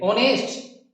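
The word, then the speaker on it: honest: ऑनेस्ट, इसका उच्चारण ओ से शुरू हो रहा है, इसलिए एन आएगा, ठीक है।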